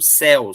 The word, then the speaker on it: céu: Se eu não colocar a diferença do acento seu, o som fechado, céu, som aberto.